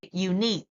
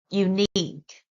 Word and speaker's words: unique: word last one uh we stress on the second syllable which is unique sorry unique unique right the second word